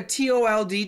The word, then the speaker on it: told: of told told hmm so in America tol D told you should keep the L for American pronunciation you